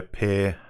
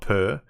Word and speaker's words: Pear: Next comment by Pear H. And I know it's pronounced pear, not per, because I have a friend whose name is Pear.